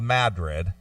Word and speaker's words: Madrid: we went to Madrid even though it's spelled Madrid okay Madrid it's called Madrid is where they filmed